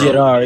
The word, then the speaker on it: Gerard: It's just Jerard. It's just Gerard, man.